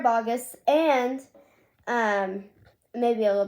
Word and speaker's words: Boggess: sierra boggess um notice i pronounce her name differently instead of bogus it's weird sarah boggess and um maybe a